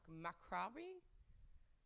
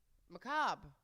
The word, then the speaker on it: macabre: I don't even know if I can pronounce this word. What the fuck? Macrabi? Macarabi?